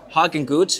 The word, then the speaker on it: Hagenguth: our next guest Hawkins who is the co-founder of a very interesting company I'll let you talk about it sure thanks for the intro and pronouncing my name a German Way Apex is a company